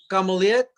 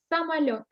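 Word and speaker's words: самолёт: Камулет. Самолет. Камелот. Masculine. Only it's not K at the beginning. It's S. Самолет.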